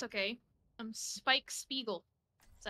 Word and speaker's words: Spike Spiegel: don't mind really oopsy Poopsy it's okay I'm Spike Spiegel is that how you say his name yeah